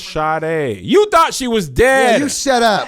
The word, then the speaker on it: Sade: sorry but you saying shoddy yes that's how there's no H in her name but it's pronounced Sharda you thought she was